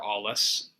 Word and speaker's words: Alles: You could find me on my website, which is just my name, Alles, and that's A-L. Spelled like the German. Yes. Yeah, A-L-L-E-S. Yes, alles good.